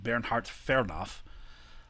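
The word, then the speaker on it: Bernhard Fernow: his native pressure his name would have been pronounced bernhard fernoff was the first chief of the division of forestry that was established in 1886.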